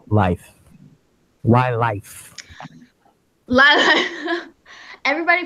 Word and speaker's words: Lyph: So how did you come up with the name Life? Why Life? Everybody pronounces it Lyft.